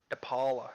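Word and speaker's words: DePaola: we have um our Long Snapper Andrew deala depala that's how you say it six I think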